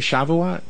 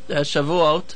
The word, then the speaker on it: Shavuot: done it's done with boys uh did I pronounce it right shavat Shavuot shav okay okay and uh that that means